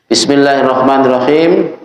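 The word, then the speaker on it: بسم الله الرحمن الرحيم: Bismillahirrahmanirrahim. Di dalam bismillah saja ada 3. Di dalam lamnya lafaz Allah, ra-nya lafaz Rahman, ra-nya lafaz Rahim. Jadi ra-nya ini dua-duanya tasdid ya. Cara bacanya begitu ditekan, Hirrahmanirrahim, diperjelas.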